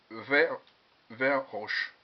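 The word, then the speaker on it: Weihrauch: Donc c'est Verbro qui fait ça. Pardon, Verbro ou Vebro. Je ne sais jamais bien le prononcer. C'est le HW38. Alors c'est vert roche. Voilà, vert roche.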